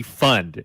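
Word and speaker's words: Pfund: work I talk shows was there a silent P in that dude's name was it Randy for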